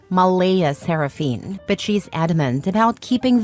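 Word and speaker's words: Mleigha Seraphyne: Clare insists it's pronounced Malaya Saraphene, but she's adamant about keeping the creative spelling because normal names are boring and my daughter deserves to stand out.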